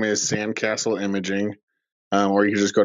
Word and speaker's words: Kasl: website name is Sam castle imaging where you just go to sand castle comm and Castle is spelled like my last name kasl and I'm from San